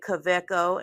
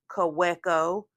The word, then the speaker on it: Kaweco: talk about Kos and yes I said CCO and not COO CCO with a V because this is a German pen made in heidleberg Germany or at least that's where